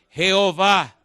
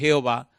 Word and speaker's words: Jehová: del nombre Jehová realidad Cuando el nombre de Dios se escribe no hay manera de pronunciarlo porque son cuatro consonantes J hw los masoretas le pusieron las vocales de la palabra adonay que significa señor y conformaron entonces e o a que es Jehová O a e que